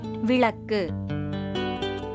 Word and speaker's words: விளக்கு: விளக்கு. இது சரியான உச்சரிப்பு. விளக்குன்னு சொல்லுவது தவறு. அடுத்து சரியான உச்சரிப்பாக குடம் அப்படின்னு சொல்லுவோம்.